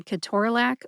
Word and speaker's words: ketorolac: the other 23 episodes in my drug name pronunciation series, and more. If you know someone who needs to learn how to say Ke-TOR-a-LAC or Toradol, please share this episode with them.